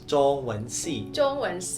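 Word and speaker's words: 中文系: Nah, kemudian kalau jurusan Mandarin kita bacanya itu zhongwenxi. Sekali lagi zhongwenxi.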